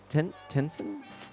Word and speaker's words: Tensei: in terms of scope shin megami tensei say intense and i think is how you say it tengen tencen shin megami tencen anyway